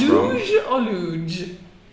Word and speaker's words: luge: How do you say it? Luge. Like huge, okay?